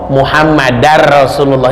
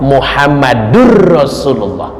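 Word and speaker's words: مُحَمَّدٌ رَسُولُ اللَّهِ: bahasa Arabnya ada etikanya contoh masih suka ada yang salah Lailahaillallah muhammadarrasulullah itu salam ya Lailahaillallah muhammadarrasulullah itu salah yang betul lailahailallah muhammadurrasulullah karena ada ilmunya Muhammad Nur Muhammad Rasulullah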